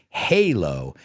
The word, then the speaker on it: halo: the Xbox, well, then you'll know the pronunciation is halo in English. An angel has a halo, and this pipe is hollow.